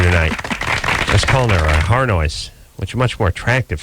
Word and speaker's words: Harnois: I was calling her Harnois, which is much more attractive sounding than Harnois. That's the way it looks when you look at it. But this is the French pronunciation? Yeah, that's the French pronunciation.